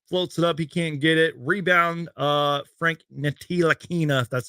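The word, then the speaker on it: Frank Ntilikina: it up he can't get it rebound uh frank nitina that's how you say his name jalen brunson's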